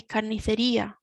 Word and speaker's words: carnicería: So another thing that we need to mention is the accent on the I. As we've said in previous lessons, the accent is telling us where we need to put our focus, our strength. So we say carnicería, and you can hear